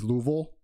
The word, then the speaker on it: Louisville: It's Louisville. You don't pronounce the I as an E.